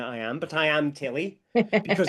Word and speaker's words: Tilly: It shouldn't matter which of Tilly and I am, but I am Tilly, because it's easier to remember. Tilly rhymes with Ali and rhymes with Emma.